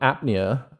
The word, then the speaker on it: Apnea: absorption lines which is of from your album apnea I I guess that's how we pronounce it in the yeah that's correct and